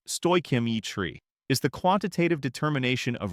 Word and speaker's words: stoichiometry: Stoichiometry, pronounced stoichiometry, is the quantitative determination of reactants and products in a chemical reaction, always based on a balanced chemical equation.